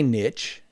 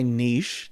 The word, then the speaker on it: niche: So this is my opportunity to find my niche or my niche, depending on how you like to pronounce it, the same way you're